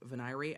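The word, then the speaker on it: voir dire: know but I think veneer is the proper pronunciation but it is a regional difference some jurisdictions you see people saying vanir and I think it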